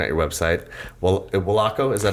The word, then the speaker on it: WOLACO: like adidas is adidas right so it's called Wallach oh it stands for way of life athletic company